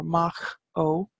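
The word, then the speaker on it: Maigh Eo: this comes from May Oh which is our mock Oh which is the plane of the yew trees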